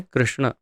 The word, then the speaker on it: कृष्ण: Highlight कर रहा हूँ इस शब्द को कृष्ण, तो कृष्ण ण जो है, इस ण के पीछे अगर एक डंडी और ऐड हो जाए तो उसका उच्चारण हो जाएगा कृष्णा। एक मात्रा और यदि शामिल हो जाए तो कृष्णा हो जाता है।